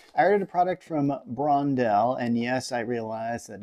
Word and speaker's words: Brondell: here's the deal i ordered a product from brondell and yes i realized that in the last video i pronounced it blondel i thank you for your comments um but